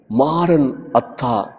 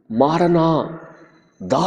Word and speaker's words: மாரநாதா: பாடுகளையும் உபத்திரவங்களையும் எதிர்கொள்ள தைரியப்படுத்தியது அரமேயச் சொல்லான மாரநாதா என்ற சொல் ஒரே சொல் அல்ல இரண்டு சொற்களாக பிரித்து உச்சரிக்கப்பட வேண்டிய சொல் மாரன் அத்தா என்று உச்சரித்தால் கர்த்தர் வருகிறார் என்பது அர்த்தம் மாரனா தா என்று உச்சரித்தால் ஆண்டவரே வாரும் என்று அர்த்தம் இந்த இரண்டு அர்த்தத்திலும் ஆதித் திருச்சபையார்